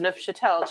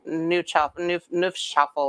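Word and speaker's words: Neufchâtel: the grocery store is nuff chatel cheese which is the french everybody tries to call it new chop shuffle or something people can't pronounce it but it's french and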